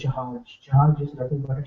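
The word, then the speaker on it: जहाज: Uh, in basically, if my understanding is correct, in Spanish it can be pronounced as her, but in Hindi it's j, right? J, jahaj. And maybe in Spanish also, in some occasions, like it will pronounced as her, not all the time. So it's jahaj.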